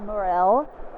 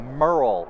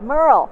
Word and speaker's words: Murrell: changing so I'm here right now with will morale well I don't know if I just pronounced your name right Merle Merle yes Merle forget what I just said I feel here